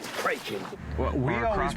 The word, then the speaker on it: kraken: I don't think it's "kracken" anyways. I always heard it said "krayken". Well, we always pronounce it "krayken." No, no, no, no, no. "Krocken" is how it's pronounced in Scandinavian, What happened was